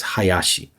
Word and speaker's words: Hayashi: listeners, 884, Cafe 884, one way that you can pronounce that in Japanese is Hayashi. Because numbers can be pronounced in different ways. So ha and ya can both be for number 8, and shi can be number 4. So 884 would be Hayashi.